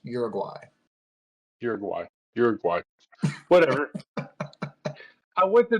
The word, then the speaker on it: Uruguay: In case there are any South Americans listening to this podcast, it's pronounced Uruguay.